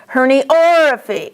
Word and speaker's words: herniorrhaphy: Underline the ORR in at least a couple of these words because students mispronounce these all the time. Herniorrhaphy, or. Tenorrhaphy, or.